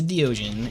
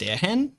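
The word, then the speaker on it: Deogen: It's actually pronounced Deohen. It is a Dutch word, and it translates to the eyes.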